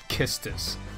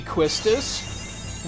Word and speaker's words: Quistis: I mean, there is a chance that it could be Quistis. We would have to, like, just because that's the Japanese pronunciation, like, because that's what I'm going off of. The Japanese pronunciation is Kistis.